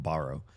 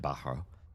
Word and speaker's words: Bahro: Well, he pronounced it with like a hard H in the middle. I was calling them Baro. I think they're Bahro. I think I was following Oz's pronunciation, but yeah, this guy said Bahro.